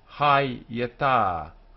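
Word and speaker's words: הָיְתָה: So, hayeta, hayeta, accent, accent.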